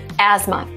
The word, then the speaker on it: asthma: might be confused because they have TH there and you're like, asthma? Asthma? No, asthma. So in this case, we have silent T and silent H, asthma.